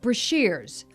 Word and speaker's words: Brashers: I would later learn from his daughter Deborah that it's pronounced Brashers, though it will continue to be mispronounced for years to come.